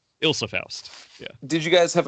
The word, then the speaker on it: Ilsa Faust: I feel like I'm weirdly most excited for her to be introduced to Isla Faust, or however you say her name. Ilsa Faust.